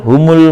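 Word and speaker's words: هُمْ: Terakhir, humul muflihuna. Hum bacanya hum karena di sini dhammah ini hanya untuk membantu pembacaan al.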